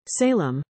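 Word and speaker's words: Salame: Lieutenant salamis often were salami whose name is pronounced Salem last week became the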